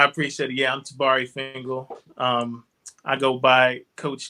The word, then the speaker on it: Fingal: for everybody i appreciate it yeah i'm tabari fangle um i go by coach t yeah because